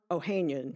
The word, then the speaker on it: Ohanian: Virginia got a major boost off the court from Alexis Ohanian. Or Ohanian, depending on which pronunciation guide you follow.